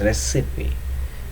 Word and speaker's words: recipe: and many more are wrongly pronounced by silencing the letter E at the end of the word.